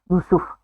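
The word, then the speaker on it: يوسف: में यूसुफ नाम है, उसको यूसुफ नहीं बुलाना, करेक्ट प्रोनाउंसिएशन है यूसुफ।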